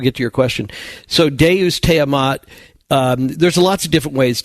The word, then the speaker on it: Deus te amat: When you say Deus Stema. Oh, no, you're saying, Deus Teamat. I understand what you're saying. Now I understand. Pronunciation, yeah. Yeah, Deus, Latin for God, te, meaning you, amat, love.